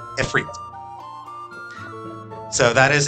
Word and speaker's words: Ifrit: And that looks like Ifrit. So, for a long time, that was how English-speaking audiences pronounced that. It was Ifrit. That's not how it's pronounced. It comes from Arabic. And there, it is pronounced Ifrit.